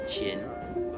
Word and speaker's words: Qin: It is pronounced Qin. Oh, thank you, Mr. Lee. Emperor Qin, who was a wise but ruthless man, reigned from 221 BC to the year 210 BC.